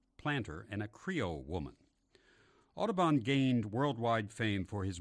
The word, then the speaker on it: Audubon: a lot of birds John James aabon or as his father might have pronounced it Odon the famous artist Frontier